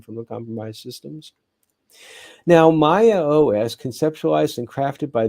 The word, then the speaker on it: Maya: to ransomware for Maya I pronounce it Maya m-a-y-a with this significant stride